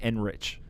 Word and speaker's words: Enrich: So, but because some people, when they pronounce their own name and it ends in CH, they say K. Yeah, no, I get it. And you say Enrich.